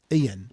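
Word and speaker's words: Euan: E-U-A-N? Ian, probably Ian actually. You pronounce that Ian. It's probably the Celtic spelling of it.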